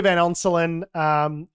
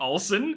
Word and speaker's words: Van Onselen: I was dragging him, I was saying his name wrong. Yes. Hearing this come out this week, I kept calling him Olsen.